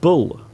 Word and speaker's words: bull: Could you please tell me the pronunciation of bull and ball? Hello, Anna. There is a bull. Bull. My friend is kicking a ball. So you can hear the difference in the pronunciation.